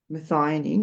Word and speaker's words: methionine: Methionine.